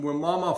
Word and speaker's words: Wimauma: So, you're you're coming to us from Wimauma, Florida? Did I pronounce that correctly?